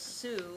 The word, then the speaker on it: Sue: My name is Sue. It rhymes with foo.